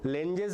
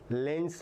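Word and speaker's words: Lenz: Sometimes you call lenes law which is not proper pronunciation. pronunciation is lens law. Lent lens law it's a German name lens law.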